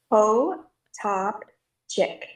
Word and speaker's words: Potopchick: So it's Po Top Chick.